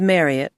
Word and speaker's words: Marriott: Her name was Marriott to rhyme with Harriet as Marriott had mentioned once.